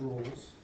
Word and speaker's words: Rolle: Raleigh's theorem, which is not pronounced Rolle's, that would be R, does not apply.